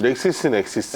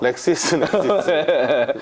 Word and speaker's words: LexisNexis: 렉시스 넥시스.